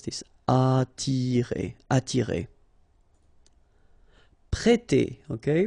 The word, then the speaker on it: prêter: We've got here this accent circumflex on the top of E, so if you remember carefully, it will produce the sound E, so really open, E, so prêter, prêter.